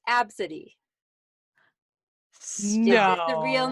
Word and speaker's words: Abcde: So the next one is spelled ABCDE. Do you know how that would be pronounced? That is pronounced Absidy.